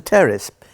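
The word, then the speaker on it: Pteris: yeah it's like a cup of tea well something else as there was a terrace and for everybody listening i have to tell you that's p-t-e-r-i-n it's a silent p a terrorist fern called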